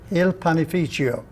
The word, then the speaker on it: Il Panificio: What is the exact pronunciation? Il Panificio.